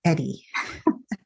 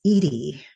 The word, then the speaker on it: Edie: Edy with one D it's not Eddie I remember you telling me that that somebody said they still yeah they still to this day even if I even though I have my name phonetically spelled they'll still say hi Eddie no that's Edy yeah well people call